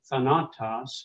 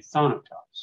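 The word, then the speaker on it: θάνατος: a little so yeah you wouldn't say Thanatos yes on a toss you'd say sonatas okay the gray vaccine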